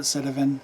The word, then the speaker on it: Sitivien: citizen st 129 or cinevine it's ien so should be said a vine everyone pronounces that citavin i will too it is a flipper